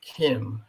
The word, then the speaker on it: CIEM: ciem by the way the ciem also pronounced as kim i'm not sure if